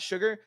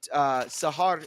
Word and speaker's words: Sahar: Why are you saying Sahar and not Sugar? Because I did an Insilio cast. I casted for Insilio in the PGL Astana stuff, and Sahar is how like he would pronounce his name. So that is how I pronounce it, because that's how they pronounce it in their language.